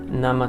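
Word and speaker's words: 生: can teach you but that same kanji for life you can also put it next to egg nama tamago now it's a complete different pronunciation and also kind of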